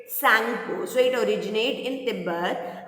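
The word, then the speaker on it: Tsangpo: Here T is silent, so we will pronounce it Sangpo.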